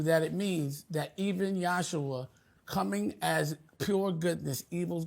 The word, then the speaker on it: Yahshua: I want to say it right, Yahshua, because that was the proper pronunciation of his name.